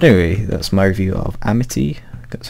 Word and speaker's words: Amity: But anyway, that's my review of Amity, that's how you pronounce it.